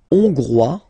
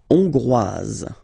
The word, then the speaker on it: hongrois: La Hongrie, hongrois, hongroise. Okay, hongrois, grois, hongroise. Okay, so here final S not pronounced for the masculine form, and then you pronounce it here for the feminine form.